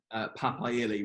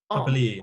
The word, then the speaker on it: Papali'i: I'm going to try and pronounce Papaili, right? Is that right? Yeah. Papali'i, I think. Why wasn't he starting? Papali'i.